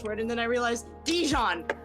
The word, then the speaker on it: Dijon: It's Dijon. I've been saying Dijon because my fucking Spanish brain Dijon. kicked in.